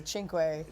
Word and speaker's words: cinque: So that's the pronunciation is they say chinq.